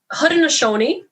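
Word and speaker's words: Haudenosaunee: much as possible so hood and ashoni the way i'm saying it right now is the kyoga translation and what it means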